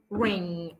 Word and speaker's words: ring: دي اسمها long n ring.